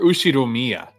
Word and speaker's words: Ushiromiya: music was inappropriate for the Ushiromiya Is it Ushiromiya or Ushiromiya? I think I've heard it pronounced Ushiromiya family, Okay.